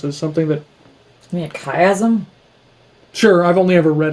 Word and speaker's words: chiasm: out of chiasmus as something that i mean chiasm sure i've only ever read it i've never